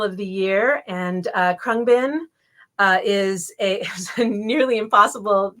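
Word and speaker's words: Khruangbin: the year and uh krungbin uh is a nearly impossible to pronounce name it looks like kurang bin but it's krungbin and apparently it's a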